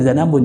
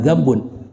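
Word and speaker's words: ذنب: Bacanya zanabun, jangan zambun. Kalau zambun dosa artinya.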